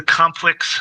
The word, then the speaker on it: COMPLX: This is the Complex SimWorks flag light system. So it's Complex is spelled COMPLX SimWorks, and basically what they